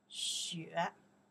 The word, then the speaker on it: 雪: Xue, xue. Okay, this is a character pronounced xue, by itself is snow.